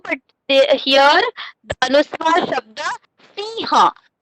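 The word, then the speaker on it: सिंह: And last one for lion, we say sher also, but here the anuswar shabda siha. The actual pronunciation is siha, but in some states they are pronouncing. They say sing.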